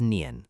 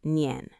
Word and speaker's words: Nian: His name was Nian. That's spelled Nian.